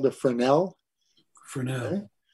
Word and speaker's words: Fresnel: fixture is called the fresnel for now right as you spell it it's really like a French term for e-s-n-e-l f-r-e-s-n-e-l a fresnel it's usually a spotlight